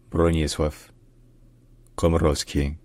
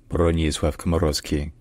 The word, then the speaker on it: Bronisław Komorowski: In Polish, this name is pronounced Bronisław Komorowski. Bronisław Komorowski. Bronisław Komorowski.